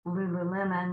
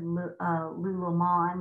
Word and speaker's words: Lululemon: fun of me because I'm mispronounced Lululemon because I said lulomon because I think that sounds fancier but anyway you don't